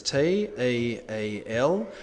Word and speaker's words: TEEL: the structure that you need to remember is t e a l which is commonly pronounced teal now this is used a lot in formal